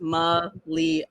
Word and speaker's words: Malia: And then I also want to, so my name is pronounced Malia, like Malia.